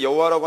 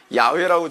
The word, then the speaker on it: 야훼: 발음하는지를 알 수가 없어가지고 지금도 우리도 여호와라고 발음하는데 여호와라고 하는 발음이 틀렸다라고 하는 주장이 굉장히 설득력 있게 먹혀 들어가요. 그래서 주로 야훼라고 주로 발음을 하는 게 옳다 이제 그렇게 보거든요.